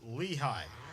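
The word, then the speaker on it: Lehigh: German settlers shortened the name to Lea and the English pronounce it Lehi.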